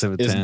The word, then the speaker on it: Civitan: So is it Civitan or is it Civitan? Because I've noticed like y'all say It's Civitan.